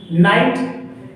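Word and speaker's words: knight: जैसे के एन आई जी एस टी, नाइट, इसको नाइट क्यों पढ़ता है? नाइट में से योद्धा होता है, क्यों? क्योंकि के और एन दोनों कॉन्सोनेंट हैं, इस के को साइलेंट कर देंगे, ठीक, के को साइलेंट कर देंगे।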